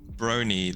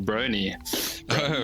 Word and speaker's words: Brony: fans and I mean it rhymes with Pony and bro as in you know we're all bros who enjoy this show